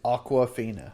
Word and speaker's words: Awkwafina: Yeah, her name in real life is Aquafina. Aquafina. Back at you again. And it's not spelled Aquafina, like the water. It's spelled Awkwafina.